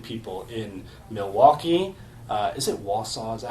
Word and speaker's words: Wausau: Is it Wausau?